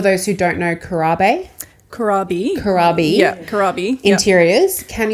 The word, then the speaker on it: Corabe: Can you just correct me if I pronounce this wrong here? But for those who don't know, Corabe Corabe.